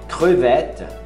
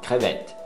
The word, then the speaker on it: crevette: Camarão, é crevette.